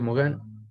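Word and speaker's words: Morin: Entonces llegan otros señores ya, por ejemplo, como Edgar Morán o Mogán, ¿listo? Morín se escribe, pero se pronuncia Mogán, francés.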